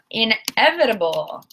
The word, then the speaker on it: inevitable: Inevitable. Inevitable. So this T is between 2 vowels. So what happens? I think you know by now. In American English, we say the D sound, inevitable.